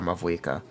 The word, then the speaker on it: Mavuika: It could be Mahuika or Mavuika. And it's very similar. As far as I'm aware, that's the actual way to pronounce the name. Either one is correct, I think.